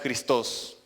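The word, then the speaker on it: Χριστός: La palabra Cristo es una palabra griega, ¿sí? Se pronuncia en realidad Christos.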